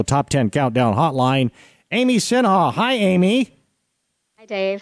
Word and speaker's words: Sinha: 10 Countdown hotline Amy Sinha hi Amy hi Dave how are you good did I pronounce that correctly shha you did well done hey hey how about